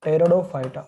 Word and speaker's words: Pteridophyta: first time developed in pteridophyta. First time they are developed in pteridophyta. Here p is silent दोस्तों।